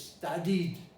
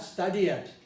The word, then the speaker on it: studied: is to study study the past of study is studied studied not study it i had many many